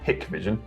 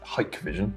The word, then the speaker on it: Hikvision: Now everyone calls this HIKVISION, but we've been reliably informed recently that it's HIKVISION. Is how it's pronounced.